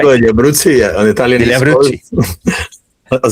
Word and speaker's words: Roseto degli Abruzzi: This is being run in Roseto degli Abruzzo. Have I said it right? Roseto degli Abruzzi, on Italian.